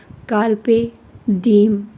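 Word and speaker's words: carpe diem: लेकिन अगर उसको इंग्लिश में देखें या उसकी जैसे कि वह मुझे बताया गया कि लातीनी जबान है तो उसमें कारपे डीम डीम है वो Google से ऐसे प्रोनाउंस किया जाता है।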